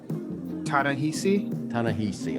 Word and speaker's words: Ta-Nehisi: How do you pronounce his first name correctly? Ta-Nehisi.